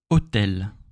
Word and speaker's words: hôtel: Mot suivant, hôtel. Hôtel. Hôtel. Okay? So you can see we have H here, hotel, hotel, hobby. And we don't pronounce it in French.